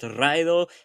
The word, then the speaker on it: raidō: Despite being pronounced “raidō” and meaning “ride,” it gives modern Anglish Road, and Ccythic Rrood.